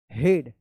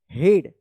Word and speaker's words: head: हेड, क्योंकि EA का E उच्चारण होता है, लेकिन यहाँ पे EA का A उच्चारण हो रहा है, हेड।